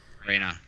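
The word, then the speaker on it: Reina: I do shoes yeah Rena Gonzales its Harvey Arena which means Queen and Spanish yeah REI and na yeah Rena all right Coveney Devine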